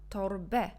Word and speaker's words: torbę: Je vais dire mam torbę. Cette lettre, c'est un, mais quand cette lettre, il se trouve à la fin de mot, on prononce tout simplement e.